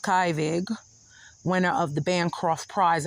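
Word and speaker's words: Kyvig: Kivig, or pronounced Kivig, winner of the Bancroft Prize in History, Daily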